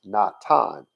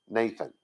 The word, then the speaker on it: Natan: It was still supposed to be pronounced Natan, not Nathan or Nathan. It wasn't even supposed to be pronounced that way. There was never supposed to be a TH sound, because in Hebrew, there